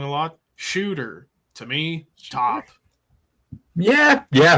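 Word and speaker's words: Tsjuder: it's spelled tsj u d r but it's pronounced shooter TS J okay what else after that tsj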